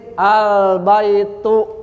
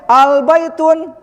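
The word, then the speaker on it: البيت: Al-baitu dibacanya. Paham? Jelas ini? Nah, jadi kaidahnya yuhdzafu tanwinu 'inda dukhuli al. Tanwinnya dibuang ketika kemasukan al. Al-baitu. Jadi gak boleh al-baitun, ini salah.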